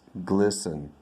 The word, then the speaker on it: glisten: is uh what uh glisten glisten it's gleaming it's shiny it's glisten not glimpse not gristle and not ginger and what about this one